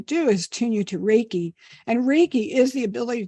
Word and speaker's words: Reiki: Did I pronounce that correctly? Yes. Reiki.